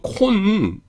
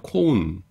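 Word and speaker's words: cone: 그래서 원래 단어는 코운입니다. 콘이 아니라 코운.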